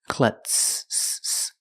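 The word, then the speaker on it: klutz: clutz pronunciation cl cl the U is short it makes a sound uh like cup and up CL the Z is not pronounced with the voed z sound it's pronounced with the S sound with no voice clutz clutz she's a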